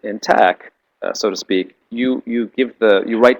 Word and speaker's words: LaTeX: I use a program called a language called LaTeX, and a program LaTeX, and it's spelled in a geeky way. So when you write in tech, so to speak, you